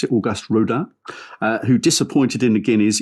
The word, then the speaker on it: Auguste Rodin: However, Auguste Rodin, I think that's how you pronounce it, Auguste Rodin, who disappointed in the Guineas, is still Ballydoyle's number 1 and his second favourite.